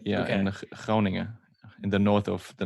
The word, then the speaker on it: Groningen: Groningen, in the north of the Netherlands. In where? Groningen, it's called in Groningen.